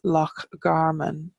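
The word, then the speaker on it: Loch Garman: the mudflats and our scale get that is lock Garmin which is Garmin's Lake or Carmen and we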